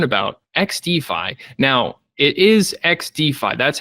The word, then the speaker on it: XDFi: uh to learn about xd5 now it is X defi that's how it's pronounced right yeah perfect it's not xdy no